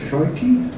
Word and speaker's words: Schuiki: Schuiki? Schuiki, okay. What else? Schuiki, okay, yes, yeah, there was a Dutch pronunciation.